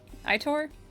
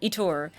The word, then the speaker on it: Aitor: It's Aitor, right? Like, I'm saying it right. Aitor? Drew his sword, filling the patio with screams and a sudden avalanche of people trying to get out. Etor. Okay, I was super wrong.